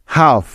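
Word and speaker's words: half: এখানে সাইলেন্ট আছে next F এর আগে এল সাইলেন্ট এর উদাহরণ যেমন হাফ এইচ এল এফ হাফ কাফ সি এ এল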